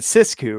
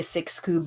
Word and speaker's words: Sisku: Yeah, I know you're inclined to say Sixku because it's in English, but I'm French and twisted the rules. So six is six in French, so that's why I say Sisku.